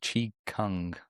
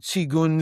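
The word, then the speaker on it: qigong: Chong, kong, chigun. It's like Beijing, pay king, paying. You know, the pronunciation of these Chinese things gets a little confusing, but in Japan they call it ki.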